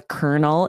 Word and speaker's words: colonel: It just does, is not pronounced like it's spelled.